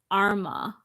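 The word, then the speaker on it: Armagh: I'm from in Ireland it's pronounced Arma oh Arma cool the lockdowns just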